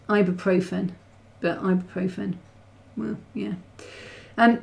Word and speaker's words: ibuprofen: thick paper I guess I think you pronounced it I rufan no it's ibuprofen but ibuprofen well yeah